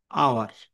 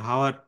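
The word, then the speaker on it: hour: যেমন এখানে আই am standing here for আওয়ার, এটা কিন্তু হাওয়ার না। হুম, অনেকে এটা হাওয়ার উচ্চারণ করে, না, এটা কিন্তু আওয়ার।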